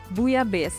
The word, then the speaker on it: Bouillabaisse: Bouillabaisse, because apparently the L is silent, according to Reader's Digest, that is.